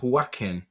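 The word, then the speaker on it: Joaquín: Joaquin Carrero. There was a few extra R's in there. It's Joaquin.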